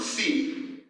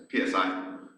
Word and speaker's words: psi: So, if we take rho sub a comma c, that's psi, psi, c, however you like to pronounce it. I'll try to say psi so we don't get confused.